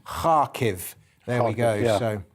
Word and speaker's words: Kharkiv: the Second City of and I know I'm pronouncing this correctly because I was told by Rhiannon yesterday kharkiv there we go so